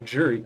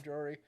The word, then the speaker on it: jewelry: I can't say jewelry well. Jury. I was looking to buy some jewelry. That's how I hate how I say it like that. I can't pronounce the L's in it for some reason.